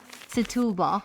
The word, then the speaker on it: Setúbal: Setubal. Setubal. Yes, this is how you pronounce it.